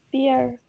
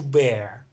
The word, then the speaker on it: bear: No, it's never pronounced beer. Beer, this is B-E-E-R. It's an alcoholic drink, or non-alcoholic, depends on, it's just a drink. Here it's to bear, and animal is also bear. The same pronunciation.